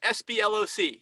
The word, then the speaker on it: SBLOC: this is a smurlock you can't even say it sbloc you can't say it like heloc it's sbloc securities baselines are credited